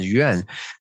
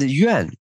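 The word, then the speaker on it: 园: So we have the Yuan and Yuan. Those two words just pronounce the same in Chinese, Yuan, Yuan, but different tones.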